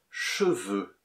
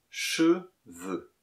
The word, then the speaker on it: cheveux: Et d'abord, la phonétique avec le mot cheveux. Cheveux. E-E. Comme dans je peux.